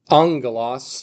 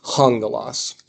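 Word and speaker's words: ἄγγελος: So we pronounce this one angalos not hungalos. If instead of this guy we had a backwards one, we pronounce it hungalos. But it doesn't exist. We have this regular comma. So it's angalos.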